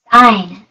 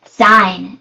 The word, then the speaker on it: sign: go and let's listen sign sign sign g is silent yes let's see sign